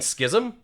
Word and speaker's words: schism: Schism? You don't mean schism? Nope, schism. Schism. That's okay. how you pronounce that word, right? Sure. Schism, not schism.